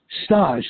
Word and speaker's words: Stash: Stash, like in Stan Musial.